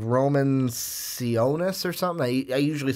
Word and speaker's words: Sionis: is I know yet Roman Roman sionis that's sionis the thing is - we actually in the